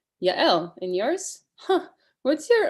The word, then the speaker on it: Yael: Y-A-E-L. Oh, Yael. Almost. More like Yael. Oh, Yael. Yes, but with a Y.